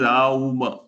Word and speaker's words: Om: It explains even the Om point, how Om is pronounced. Om is written and talked of as Om, but when it is chanted, it is Aum, Aum, Aum.